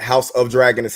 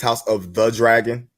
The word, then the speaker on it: House of the Dragon: and and I'm sorry it's not House of dragons House of the Dragon if you're gonna celebrate the show say it right h-o-a-d the dragon yeah